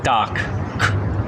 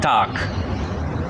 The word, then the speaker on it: Tag: For example, whenever there is a G at the end of a German word, it is pronounced more like a K than a G. I don't say “Guten TaG”, G, this is an Italian speaking German .